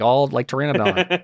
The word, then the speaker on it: Pteranodon: No, the P is silent, like Pteranodon.